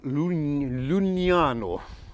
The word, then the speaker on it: Lucignano: Now, you're in the comune of Lucignano. I pronounced that right. And Lucignano is over there, and it's about 15 minutes away, and it's a really beautiful town.